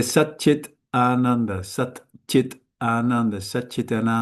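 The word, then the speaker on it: Saccidānanda: If you say Sat Chit Ananda, Sat Chit Ananda, Sat Chit Ananda, Sat Chit Ananda, Sat Chit Ananda, it automatically, this will be pronounced like a cha, and this like it with a D.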